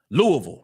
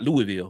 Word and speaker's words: Louisville: The question, like Louisville, would be, the second that she arrives on campus at Louisville, not Louisville, Louisville, that's how they say it, Louisville.